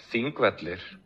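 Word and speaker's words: Þingvellir: Thingvellir. Thingvellir. So here it sounds like Thingvellir, right?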